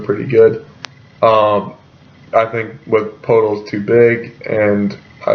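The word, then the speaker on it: Poeltl: Jacob Podol. That's how you pronounce it.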